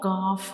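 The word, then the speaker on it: ك: When we pronounce calf, the very back of the tongue will touch the hard palate, like calf.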